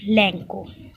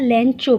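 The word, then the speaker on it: Lencho: Okay, there is a character of लैंको। लैंको भी बोलते हैं, लैंचो भी बोलते हैं, ठीक है ना। There are different kind of pronunciation.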